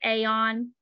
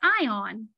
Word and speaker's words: Aeon: some people pronounce it aeon some people pronounce it ion david just says eon so i say eon just pretend like the a is silent i don't know it